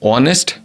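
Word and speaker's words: honest: मां मा LG school यहां अगर हम देखते हैं जो ऑनेस्ट शब्द है वह इस से शुरू होता है जो की एक कॉन्सोनेंट लेटर है लेकिन यहां आगे साउंड साइलेंट है और इसका प्रनंसीएशन होता है यह एक वावेल साउंड है इसी वजह हम एन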